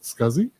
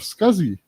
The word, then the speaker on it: SCSI: the small computer systems interface that nobody knows as SCSI but everybody knows that scuzzy so there are some